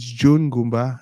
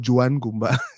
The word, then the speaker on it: Joan Ngomba: So it's Joan Ngomba. It's not Joanne Ngomba.